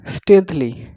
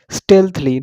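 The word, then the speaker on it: stealthily: स्टेल्थली मतलब गोपनीय तरीके से। स्टेल्थली चुपके से। स्टेल्थली क्या इसकी प्रोनाउंसिएशन होगी? स्टेल्थली, नॉट स्टील्थली से बोलेंगे, स्टेल्थली।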